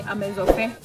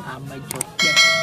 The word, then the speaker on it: Amezofe: Like I would say Amezofe. How will you say it, Amezofe? Amejokpe. Amejokpe. Yeah.